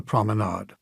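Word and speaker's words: promenade: median became known as the proomenade. Last syllable nod.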